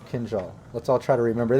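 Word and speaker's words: kindjal: time my tongue hurts i have seen it written phonetically kin jal kenzal okay awesome kenjal let's all try to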